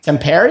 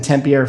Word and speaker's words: Tampere: How do you pronounce that city, by the way? Tampere? Yeah, I think Tampere is probably more accurate.